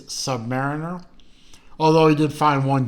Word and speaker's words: Submariner: had a controversy of how do you pronounce the words is it submarine or is it Submariner I think we established uh the overall consensus is it is Submariner although he did find